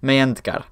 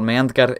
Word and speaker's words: Meyhendgar: This is Meyhendgar, the H is silent, and we are not going to go into all that in this video.